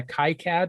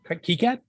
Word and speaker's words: KiCad: that he's ordered to make sure that a kai cad is at the right pronunciation schematic works properly now this is part of a thing called the bit preserve project kicad yes yeah anyone will tell you different it's